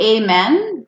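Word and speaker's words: amén: It's still spelled amen, but we say amen because A makes the A sound in Espanol. Good question. Gran pregunta. Amen, you guys.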